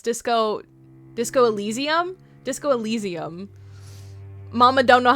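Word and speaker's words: Disco Elysium: World Singer bought me uh the Disco Asylum game. I think I'm mispronouncing it. It's Disco Disco Allesium.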